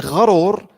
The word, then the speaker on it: gharur: That's ghurur. If you spell it G-H-A, gharur, that's shaitan.